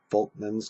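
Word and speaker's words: Volkmann: horizontal channels are called folman's canals I know you see the V there but it's actually pronounced with an F uh folman's canals are these horizontal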